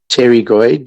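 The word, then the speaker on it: pterygoid: It's a it's a great word that it's spelled uh t e r y g o i d tergoid. You you don't say the p otherwise you'll split on someone.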